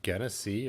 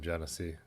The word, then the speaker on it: Genesee: it's pretty horrible so you've always heard genesee pronounced with a g sound gunnessy or guinea i've never always been genesee yeah schaefer yeah i've had shaffer shafer light